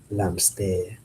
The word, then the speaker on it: hamster: Hamster is literally spelled the same, but it's pronounced with the accent. Forget about the h. It's hamster. L'hamster.